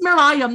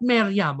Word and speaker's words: Merriam: It's Merriam, not Merriam, okay?